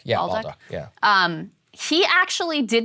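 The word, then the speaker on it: Bolduc: Oh, yeah, Baldock. Baldock.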